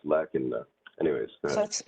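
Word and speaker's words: لكنّ: Yeah, it's lakinna. Anyways, go ahead. So it's pronounced lakinna, not lakinna. Yeah, lakinna. Yeah.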